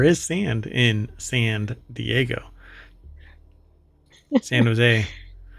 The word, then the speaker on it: San Jose: sand in Sand Diego San Jose which I'm why do I feel like they probably pronounced it San joose most definitely well because I